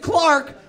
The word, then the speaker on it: Clark: Dude trailer last name is Clark which rhymes with Park yeah my name Rhymes